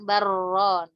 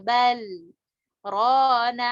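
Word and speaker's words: بل ران: Nah, ini wajib diidharkan karena sebab apa? Saktah. Jadi bacanya bukan baron. Mungkin setahu Ana ada di sebagian riwayat lain itu dibaca idgham. Tapi di riwayat Hafiz enggak, di saktah ya.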